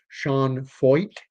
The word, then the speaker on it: Sean Feucht: Tonight I'm going to be talking about Shaun Fo. That is how his name is pronounced.